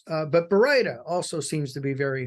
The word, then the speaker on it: baryta: They got Baryita, Byrata, Barista, Bartista, and then some people just give up and call it burrito.